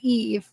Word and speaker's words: Eve: I don't think it's Eevee I think it's eve it's just Eve Eve right Eve yeah Adam and Eve yeah we can't pronoun that's funny but well but give us some slack look how it's spelled like for us over here that would be like EV you know what I'm